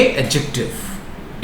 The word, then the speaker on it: adjective: एक चीज और मैं कह दूं, बहुत सारे लोग एडजेक्टिव को इनकरेक्टली प्रोनाउंस करते हैं, है ना। जिस तरह से जज में डी साइलेंट रहता है, उसी तरह एडजेक्टिव में भी डी साइलेंट रहता है, इट इज नॉट प्रोनाउंस्ड। सो आप प्रोनाउंस करोगे एडजेक्टिव।